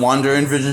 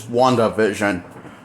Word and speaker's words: WandaVision: WandaVision is one word. It's spelled, how it's spelled is like, well, it's how it's spelled, how it's like said. WandaVision. So, so it's not Wonder and Vision, it's WandaVision.